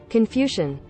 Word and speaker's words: Confucian: Confucian. Confucian? Just like confusion?